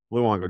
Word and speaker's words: Luongo: It's Luongo, right? Luongo. Just like the cult. Luongo, just like it's spelled.